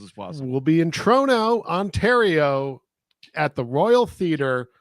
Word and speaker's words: Toronto: Trigger Chrono Chrono so instead of Chrono say trono trono that's how you say the city name